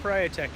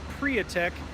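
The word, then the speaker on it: Priatek: the the prior tech building it is not pronounced protect its priya text the reason is because the owner of the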